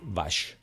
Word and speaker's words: vache: Vaca se dice Vash y se escribe Vache.